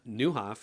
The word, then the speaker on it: Nieuwhof: It's Niu W. This is the Dutch word for new.